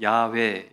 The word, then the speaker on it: 야훼: 우리 여호와라고 알고 있는데 원래 발음은 야훼, 이거 더 가깝다고 합니다.